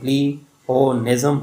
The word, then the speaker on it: pleonasm: में आप लोग देख रहे हैं कि उसकी प्रोनाउंसिएशन यानी प्लेओनिज्म है और उसका मतलब ज़ायदुल अल्फाज है या ज़ायद अल्फाज है, यानी ज़्यादा अल्फाज का इस्तेमाल करना।